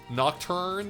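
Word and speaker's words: Nocturne: the announcement of a shim shimakami tensei 3 nocturn is how you say it HD remaster along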